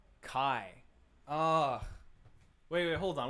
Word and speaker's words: chi: upsilon okay yeah yeah it's chi oh no no it's kai it's kai isn't it okay at least